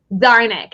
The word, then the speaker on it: Czarnik: The C is silent. Czarnik.